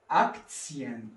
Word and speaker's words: Aktien: Here T-I-A-N am Ende eines Wortes kann manchmal als Zien ausgesprochen.